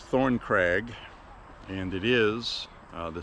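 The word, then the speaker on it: Thorncrag: It's actually a crag. C R A G. So, it's Thorn Craig, and it is uh the Stanton Bird Club.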